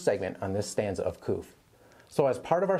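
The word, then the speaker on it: Qoph: So the letter Koph, or it's also spelled Q-O-O-P-H, pronounced Koph.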